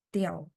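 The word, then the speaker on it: diao: Tiao. Saya lingkari ya biar kelihatan. D I A O. Ini bacanya tiao. D bunyinya te.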